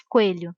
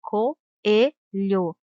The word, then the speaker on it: coelho: Não se diz coelho, se diz coelho. Temos duas vogais, uma do lado da outra, mas na separação de sílabas devem ficar separadas, pois as duas vogais têm som forte e demorado.